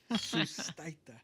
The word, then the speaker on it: Sustaita: Sustaita. Yeah. And the way it's spelled too, it's Yeah. kind of like Well, how's Yeah, it spelled? S-U-S, so Seuss, Uh-huh. T-A-I, Thai, Uh-huh. T-A. T-A.